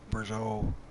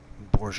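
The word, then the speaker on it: Bourgault: the 12 meter Brazeau like a burrow or gold I can't I have another pronunciation cultivator huh hmm no don't stop there now you should have no problems with a worker for the rest of this field in theory borge Oh possibly that's how clutch pronounces it and it is a Canadian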